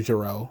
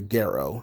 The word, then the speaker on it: Gero: wants his version of Dr gero or Dr Garrow depending on how you choose to pronounce that and he finds Dr